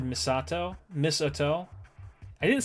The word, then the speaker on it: Misato: Ray e that's pretty much right no it's misato it's misato that's how you say it you say Misan I'm sorry you're you're correcting somebody who's speaks Japanese on how to say something in Japanese you said misato miso I didn't say miso I did not